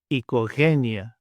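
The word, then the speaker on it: οικογένεια: The next 2, O and I, together make an I sound, I, as in the word see, see. And in the Greek example, ikogenia, ikogenia.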